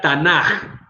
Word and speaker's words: Tanakh: la K de Ketuvim, pero se pronuncia Tanaj como una J al final, porque así son las reglas gramaticales de los judíos. Cuando la K va al final, suena como una J. Por eso si ustedes googlean, van a encontrar que se dice o ponen ellos el Tanaj con una J, pero es porque así se pronuncia.